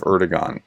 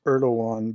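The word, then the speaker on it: Erdoğan: a friend of Russia he's a friend of erdon and turkey and it's erdogan but okay I you know Mis pronounced all kinds of things he will if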